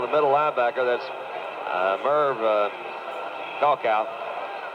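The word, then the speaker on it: Krakau: That's Merv Kalkow. How do you say that? Croker.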